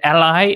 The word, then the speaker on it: a11y: and many i saw three different ways people pronounce it like accessibility which i think is the right way and then ally and then a 11y that's that's somehow how